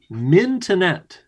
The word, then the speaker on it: mintonette: What sport was originally going to be called mintonette, as in the first syllable is mint?